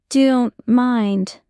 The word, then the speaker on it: don't: Don't mind. Normal. I don't mind. Natural. I don't mind. Notice the T in don't often disappears.